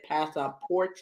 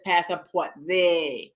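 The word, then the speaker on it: pasaporte: notes or whatever and she's like Mommy it's Passa got to Ru the E and I'm like because I think I said Passa like English way pass she was like no Mommy you're saying it wrong it's passort like they not not a it's not a gotta roll it cause uh yeah you gotta roll those girl he as like I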